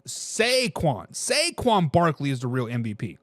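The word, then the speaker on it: Saquon: shaquon Barkley people in people on the YouTube says I was saying it wrong I was saying Shaquan is sequan sequan Barkley is the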